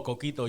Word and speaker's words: coquito: in here what's it called uh coquito oh coquito yeah there we go yes yes that's how you pronounced it correctly well done yeah my R's